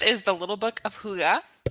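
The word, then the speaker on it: hygge: But the first is The Little Book of Huga. Huga is that word that's spelled H Y Ge. It's a Danish word.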